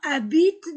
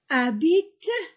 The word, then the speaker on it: habitent: Les Vincent habitent dans leur appartement depuis 8 jours. Les Vincent, I-N-1, Vincent, E-N-T-1, habitent, H ne se prononce pas, habite, E-N-T du verbe ne se prononce pas, habite, les Vincent habitent dans, A-N-1, leur appartement.